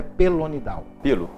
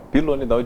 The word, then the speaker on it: pilonidal: Aliás, a pronúncia correta é essa? Ou é pelonidal? Pilonidal vem de pelo, né?